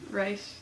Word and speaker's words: Reich: Reich. R-E, Reich? R-C-H. I pronounce it right.